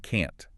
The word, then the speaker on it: can't: Think about the words can and can't. The only difference is that tiny little tut sound at the end. If you don't enunciate it clearly, the entire meaning of your sentence is reversed.